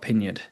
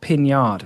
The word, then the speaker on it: Pinyard: And that's all one person all combined into the one and only Scott Pinyard. Not Piniard. I've been saying his name wrong for however many years.